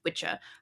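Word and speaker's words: wicce: So, the original word for a woman who practices sorcery or witchcraft was spelled W-I-C-C-E, pronounced witcha, and it was a feminine form of witchaw,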